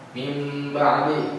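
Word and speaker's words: من بعد: Ee mim ba'di kan nun mati bertemu ba kan. Mim ba'di dibacanya sedikit dengung.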